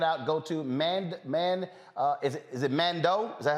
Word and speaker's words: Mandeaux: Now, folks, if you want to check it out, go to is it Mandeaux? Is that how it's pronounced? Mandeaux.